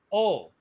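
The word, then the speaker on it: を: Oh, it's spelled whoa, but it's pronounced oh.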